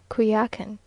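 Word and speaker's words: Coyoacán: in the morning to kakan now pronounced kuyakin which is almost a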